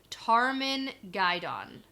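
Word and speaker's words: Tarmon Gai'don: a dragon because the pattern is weaving toward Tarman guidon yes that's how you pronounce it - okay and the glossary definition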